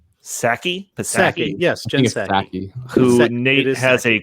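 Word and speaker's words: Psaki: do you say that say that last name saki yes who nate has a crush on uh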